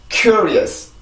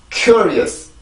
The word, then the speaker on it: curious: 자, 요렇게 해서 요 단어는 발음을 하는데 우리나라 말로 쓰면 이거를 curious라고 쓴단 말이에요. curious라고 쓰는데 왜 이렇게 쓰냐면 그냥 스펠링을 읽어서 그렇습니다. U 발음이 나왔을 때는 U라고 있는 경우가 있고 R 발음은 그냥 리을로 쓰죠. 그래서 curious라고 있지만 영어 발음으로 보면 curious가 아니죠.